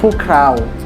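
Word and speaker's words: พวกเรา: Kemudian yang selanjutnya adalah pukrau. Jika ada mereka, berarti juga ada kita atau kami. Bahasa Thailand dari kata tersebut adalah pukrau atau puakau, dibacanya puakrau, cuman ditulisnya puakrau, cuman dibacanya pukrau. Hampir sama dengan mereka.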